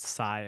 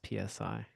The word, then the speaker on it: psi: I'm not thrilled about the fact that I got distracted and and pronounced sigh as PSI. I was thinking compressor strength.